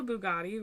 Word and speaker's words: Bugatti: it right right yeah yeah it's called a Bugatti right yes oh okay so in my car when you try to connect to the Bluetooth it'll say do you want to connect to the Bugatti and you hit yes and then you get